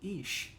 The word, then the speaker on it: Ix: Omar are the Jaguar ish IX pronounced ish where the magician animal